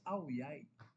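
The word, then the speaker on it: áo dài: I went there no someone corrected me it's not die It's away. So ang pronunciation pala nila sa DIY. So away pala ang basa doon.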